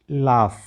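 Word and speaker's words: laugh: यू जी एच तो वहां पर यू का उच्चारण नहीं करना है। एल ए यू जी एच लाफ।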